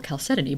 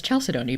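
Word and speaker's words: chalcedony: in this special box we find a beautiful caleton brooch which I used to pronounce as chalcedon before I knew better so we've got caleton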